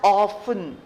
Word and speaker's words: often: Seldom is a word which also means the same as rarely, but it is not as used as often as rarely. Often, O-F-T-E-N, the T is silent.